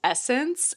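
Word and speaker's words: SSENSE: Another great site, which I I hate their name, it's apparently it's pronounced Essence, S N E, and they have really a really great variety of a ton of brands that I love.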